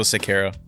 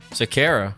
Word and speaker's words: Sequera: Sequera. Said it right? Almost. Sequera. Sequera. Yep. Is it really? Yeah, there's no G. It's a Q.